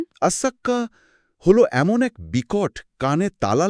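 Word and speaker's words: الصاخة: কোরআন সেই দিনটার যে নাম দিয়েছে তার শুদ্ধ উচ্চারণ শুনলেই বুকে কাপন ধরে যায়। আসসাক্কাহ।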